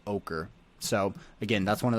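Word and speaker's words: Oquirrh: but the the area the neighborhood is called ochre so again that's one of those funny words how do you pronounce that o q u i r h is ochre so out here in this area um you've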